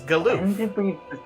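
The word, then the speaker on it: Galuf: And yes, I'm going with the 14 pronunciation of that name. Which is Galuth.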